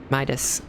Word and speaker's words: Midas: meetus oh i think i've been pronouncing your name wrong midas after a king from a legend of eld